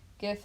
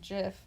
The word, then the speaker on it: GIF: also a fun fact it's gift and not jiff because the G stands for graphic which has a hard G sound anyway that's what will